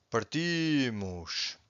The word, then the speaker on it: partimos: Underline, you can see the strongest syllable. So parto, partes, parte, partimos, partem.